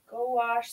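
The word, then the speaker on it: gouache: see um but uh go wash say quickly blend it as one word go oh goh say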